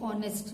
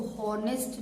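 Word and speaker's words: honest: एच जरूर है लेकिन इसको हॉनेस्ट नहीं, ऑनेस्ट बोलते हैं। ठीक है, ओ जो है वॉवेल है, साउंड यहाँ वॉवेल का आ रहा है, एच साइलेंट है।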